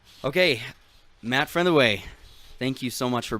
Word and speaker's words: Frentheway: Frentheway. Frentheway. Break it into 3 syllables. Okay. But it's not like, okay, so it's more, but there's more like a soft TH, not like a th.